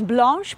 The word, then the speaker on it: Blanche: Hi there, my name is Blanche, pronounced the French way.